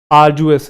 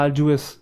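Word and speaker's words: arduous: याद आ जाएगा आरजुएस इसके अंदर ड वाला हल्का सा आता है। आरजुएस ड बोलते हैं। डी साइलेंट नहीं होता। आरजुएस हल्का सा साउंड रहता है बट बोलते हैं।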